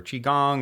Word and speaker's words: qigong: and as far as connecting with you for chiong or just following your work you know social